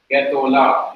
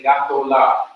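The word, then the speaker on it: גְּדוֹלָה: Because you're rushing to emphasize the last syllable, which is La, the Hamis A under Gimel changes to a simple shawal that is vocal. So you just hurriedly pronounce Getolah. You don't say Gatolah. Getolah.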